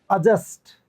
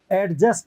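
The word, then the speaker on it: adjust: क्या बोलते हैं आप अजस्ट एडजस्ट नहीं होता अजस्ट अजस्ट होता है ए ज ए से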